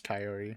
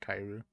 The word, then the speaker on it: Kaori: I think it is Kaori, not Kairu.